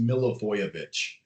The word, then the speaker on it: Milivojević: Mark oh so it's it's uh pronounced milovich oh okay I I